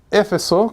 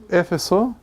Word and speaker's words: Éfeso: Éfeso, con acento en la primera E. Éfeso, que también era un centro de enseñanza de Pablo durante 3 años, si no me equivoco, ¿cierto?